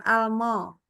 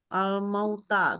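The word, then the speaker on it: الْمَوْتَى: Ma-nya sempurna dulu. Jangan mauta. Itu lebih kayak A dengan O disapur. Jadi Mau. mauta. Ya, alma. Bukan almo. Almauta.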